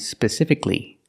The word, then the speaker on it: specifically: Let's look at these two words, specific and specifically. Remember, the end of the word is pronounced cli, cli.